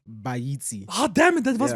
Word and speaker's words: Baaitse: It's Baaitse.